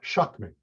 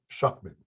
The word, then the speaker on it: Schuchman: not to mark uh shockmen shockmen so the last two ch is uh like a k so yep it's um